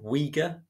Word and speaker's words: Uyghur: Xinjiang province is 80% Uyghur, which counterintuitively is spelled U-Y-G-H-U-R.